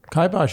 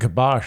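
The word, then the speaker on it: kibosh: i'm glad we kybosh'd i say kybosh you say kibash am i saying it wrong kybosh is right okay i think gabash is actually wrong okay thanks good sure um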